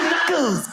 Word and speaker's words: knuckles: Like all those words that should begin with N but have a K of all the letters that why would a K be silent? Knickers. Why is it knuckles? Knuckles.